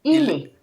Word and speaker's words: il est: So, il est. The T is silent. No, silent T. Il est. Il est. Oh, il. Just il. No, il est. And Il then you can est. make it like one.